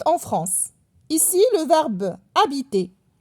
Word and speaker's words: habiter: Ici, le verbe habiter, il commence avec un H muet.